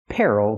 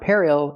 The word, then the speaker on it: peril: Peril means danger. Again, it's not peril, it's peril.